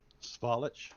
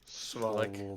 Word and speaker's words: Svalich: Svalich. Svalich.